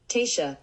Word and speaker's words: Taoiseach: out loud and Taoiseach is that right let's pronounce it on the computer here tisha there we are Taoiseach it doesn't help anything